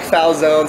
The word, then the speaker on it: Falzone: Mike Falzone, spelled like calzone.